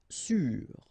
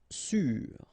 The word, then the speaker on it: sûr: Sûr. Sûr. Okay, even if you get this accent circonflexe, you don't pronounce it, so you get the same pronunciation, sûr and sûr.